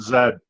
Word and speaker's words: Z: gonna wait for Z we pronounce it Zed sorry my Canadian friend so